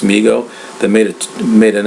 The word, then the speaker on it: Mego: Man video I talked about a company called mego but it's actually pronounced Migo that made it made an action figure called